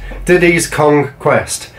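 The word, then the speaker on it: Diddy's Kong Quest: tipsy diddy kong quest Diddy's conquest you have to make sure you say it right because it's a play on words but dunk on country too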